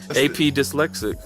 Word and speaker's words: PA Dyslexic: AP Dyslexic. That's my hip He hop. spells it P.A. PA Dyslexic. I'm AP Dyslexic, but when you read it, it says PA Dyslexic. It's spelled P.A. It's pronounced A.P.